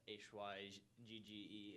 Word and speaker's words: hygge: I know you guys mentioned, I'm probably mispronounce it. It's the HYGGE.